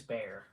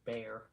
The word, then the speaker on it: Bayer: cringey intro bear okay it is bear okay heard it here live folks it's pronounced bear okay like bear just with the bear